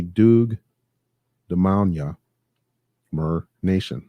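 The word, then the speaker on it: Muur: Doug Demania Mer Nation. Mer. M-U-U-R. Mer. M-U-U-R, right? Not more. Mer.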